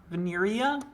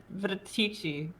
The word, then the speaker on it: Venetica: Veneria? Venetici.